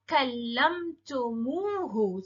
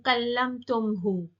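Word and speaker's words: كلمتموه: So it's now kallamtumuhu. So it's easier to pronounce. Kallamtumuhu, going along with the long vowel sound. Kallamtumuhu, instead of saying kallamtumhu.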